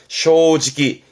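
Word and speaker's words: 正直: 정직한 건데 발음 조심하세요. 쇼지기 요렇게 단어로 외워보게요.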